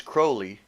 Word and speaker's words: Crowley: his name is holy or his name is crowley and it rhymes with holy and he said something